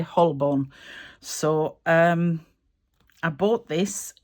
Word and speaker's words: Holborn: This is a Phylax Hullburn, Hullborn, however you would like to pronounce it. I say Hullborn.